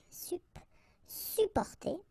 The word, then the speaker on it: supporter: You can also add this SUP in front of porter, supporter, supporter. We don't really pronounce the 2 or the double P here, supporter.